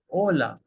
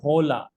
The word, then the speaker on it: hola: focus there it's not hola it's Ola Edge is usually H is silent most of the time for any word starting with h Ona buenos dias buenos